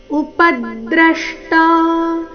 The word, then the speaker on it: ಉಪದ್ರಷ್ಟಾ: ಪರಮಾತ್ಮೇತಿ ಚಾಪ್ಯುಕ್ತೋ ದೇಹೇಸ್ಮಿನ್ ಪುರುಷಪರಹ ಉಪದ್ರಷ್ಟ ಇಲ್ಲಿ ಪ ಮತ್ತೆ ದ್ರ ಎರಡು ಅಕ್ಷರಗಳ ಮೇಲೆ ಆಘಾತ ಬರಬೇಕು ಉಪದೃಷ್ಟ ಅಂದ್ರೆ ಉಚ್ಚಾರಣೆ ಸರಿಯಾಗಿದೆ ಆದರೆ ಪ ಮೇಲಿನ ಆಘಾತ ಬರಲಿಲ್ಲ ಸೋ ಪ ಮೇಲಿನ ಆಘಾತ ಪ ಮೇಲೆ ದದ್ದು ಆಘಾತ ಯಾವ ರೀತಿ ಬರಬೇಕು ಗಮನಿಸಿ ಉಪದ್ರಷ್ಟ ಉಪದ್ರಷ್ಟಾನುಮಂತ ಭರ್ತಾ ಭೋಕ್ತ